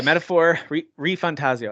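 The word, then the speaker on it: Metaphor: ReFantazio: No, it's Metaphor ReFantasio, I think is how you say it. No, you got it. You got it first try.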